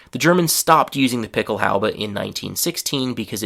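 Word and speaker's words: Pickelhaube: Um the next German word from this area is picklehala. So actually that's the German pronunciation picklehala and in English the pronunciation is very similar picklehalba.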